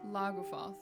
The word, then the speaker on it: Lagufaeth: Laguath. Okay, I'll remember that's how you spell that.